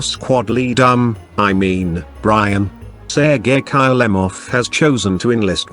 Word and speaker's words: Sergei: intro by the way you mispronounced my name it's sergey not siriji and it's kill em off not kylo love oh whatever text to